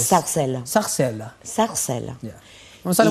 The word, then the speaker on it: Sarcelles: ¿Cómo se pronuncia? Sarcelles. Sarcelles.